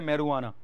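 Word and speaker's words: marijuana: रोना निकाली जाती है मैं रवाना स्पेलिंग उसकी हो जाएगी समय आर आइ जे यूएई ने मैरिजुआना मेरे जाना होता है जो तारों साइलेंट होता है इसको बोलते हैं मरुआना ठीक है चलो के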